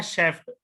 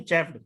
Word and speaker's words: chafed: देखो बेटे, पहला है शेफ्ट, CHAFED, पहले वाला, ठीक है। पहले वाले शेफ्ट का मतलब शेफ नहीं चेफ्ड।